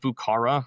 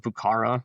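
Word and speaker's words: Vieux Carré: Um it's it's called Bukara. It's spelled uh V E V I E U X. um C A R R E, but it's pronounced Bucara.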